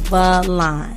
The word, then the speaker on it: Valon: It's pronounced Valon. Valon. It's an Albanian name.